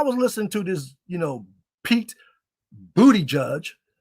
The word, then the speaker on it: Buttigieg: I know I mispronounced the name, but that's why I want to say it. Pete Buttigieg. And I don't listen, and I don't care what his orientation is. I'm not saying booty judge for that.